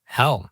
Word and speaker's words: Hel: And the villain of the film, Hel, spelled without an A. Instead of Hela, Hell.